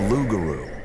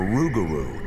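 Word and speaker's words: rougarou: or even a bird the lugaru or rugaru as the local Cajun pronounce it is not a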